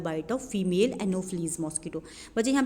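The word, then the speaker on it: Anopheles: एल ई एस ई ठीक है ये है एनोफिलीस का स्पेलिंग यहां पे थोड़ा मिस्टेक से लिखा हुआ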